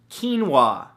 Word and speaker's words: quinoa: beautiful thing number two quinoa spelled ke en wuah no that's not how it's spelt at all but it should right come on English now the great thing